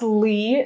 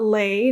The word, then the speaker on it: Lee: Yes, it is pronounced Lee, not lay, not leg.